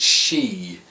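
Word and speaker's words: Sidh: think it's pronounced just she the d is silent or c um but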